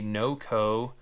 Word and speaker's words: NOCO: right this is a no-co pass-through outlet for those of you that have never heard of noco i think that's how you say it noc oh it's gotta be no co um for those of